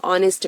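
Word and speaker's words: honest: हो जाएगा शी हैज an umbrella, क्योंकि हमारा प्रोनाउंसिएशन इंपॉर्टेंट है। नाउ नेक्स्ट इज वह एक ईमानदार आदमी है। ही इज अ ऑनेस्ट मैन।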